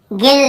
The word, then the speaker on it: gild: पे गाइड, sorry गिल्ड, गिल्ड लिखा है, क्या लिखा है, गिल्ड, देखिए गिल्ड, यहाँ पर भी हम यू को नहीं पढ़ रहे हैं।